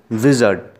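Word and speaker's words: wizard: Our next वर्ड इज विजर्ड। आर इसमें भी silent रहेगा दोस्तों। विजर्ड means a मैन हु हैज़ a magical powers, ठीक है।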